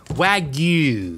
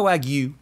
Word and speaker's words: wagyu: Now, Wagyu.